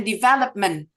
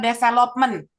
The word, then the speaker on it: development: kita tidak bicara action sama sekali kita belajar pelafalan kita belajar jadi suku kata mana itu Ditekan contohnya kata develop and development teman-teman seringnya misalnya dengar adalah development No it's development development but it's different when